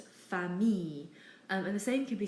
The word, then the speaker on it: famille: Words in French that have an I and an L aren't pronounced il. We simply pronounce it as E. So people very commonly mispronounce the word famille and they try and say it as famille or something like that. But really it's just famille.